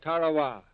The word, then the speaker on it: Tarawa: Ladies and gentlemen, there's a tiny island in the mid-Pacific called Tarawa. That pronunciation, incidentally, is from the National Geographic Society.